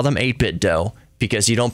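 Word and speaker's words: 8BitDo: they're mentioning 8bit D controllers I call them 8bit do because you don't pronounce it nintend uh do they say some people say 8bit do do you call it a Nintendo no Nintendo so I say 8bit do but to each their own ASUS ASUS whatever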